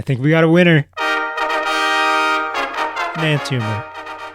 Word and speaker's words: enantiomer: There's an excess of one anantimer in here. I think we got a winner. Anantimer. E N A N T I O M E R. Anantimer. What a mouthful. Those five syllables.